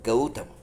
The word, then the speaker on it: Gautama: What is Gautama? See, it rhymes with the word Gaurava, isn't it?